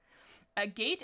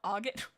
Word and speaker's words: agate: A gate is a gem, I think. Oh, is it? Wait, am I saying it wrong? Agate?